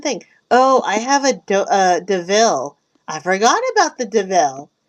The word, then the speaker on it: DeVille: No, it's DeVille.